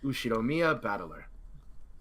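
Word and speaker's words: Ushiromiya Battler: the characters for fight and person and is pronounced batt put it all together and you've got usid Mia batt pretty crazy right it's crazy enough that my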